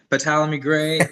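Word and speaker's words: Ptolemy Grey: And half the scripts you're in and half the projects, I can't pronounce the names. Ptolemy Gray with Samuel Jackson.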